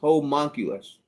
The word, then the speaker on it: homunculus: and it's uh Mikey gives us the the pronunciation here it's a whole monkey I will not he was monk monculus homunculus thank you very much I think there is